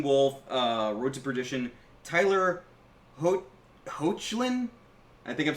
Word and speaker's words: Hoechlin: Tyler Hoechlin? I think I'm saying that right. Hoechlin.